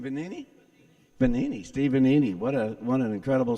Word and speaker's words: Benini: How do you pronounce his last name? Benini? Benini.